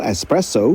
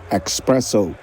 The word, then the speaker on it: espresso: Ada lagi kata lama yang lagi-lagi salah pelafalannya, kopi ekstra kental espresso yang sering disalah-lafalkan menjadi espresso.